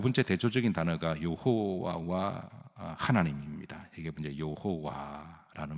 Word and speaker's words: 여호와: 그때 하나님께서 여호와 그랬습니다. 여호와. 근데 이 말은 이제 야훼라고 이제 부르기도 하죠. 원래 발음은 여호와입니다.